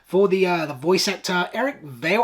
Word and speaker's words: Vale: I would really love for the voice actor, Eric Vale. I think Vale's how you pronounce it. Val.